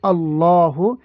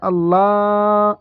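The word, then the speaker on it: الله: করতে চাই আমরা তাহলে এই আল্লাহ শব্দটাকে মোটা করে পড়তে হবে মোটাটা কিভাবে পড়তে হবে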